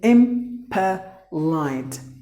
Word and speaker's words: impolite: And the next word is impolite. Impolite. The letter E is silent. So impolite.